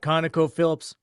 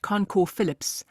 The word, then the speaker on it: ConocoPhillips: At ConocoPhillips, I think the syllables are there, but some of them are rushed and just really rushed, so we're not hearing them. Yeah, you're not hearing the second O.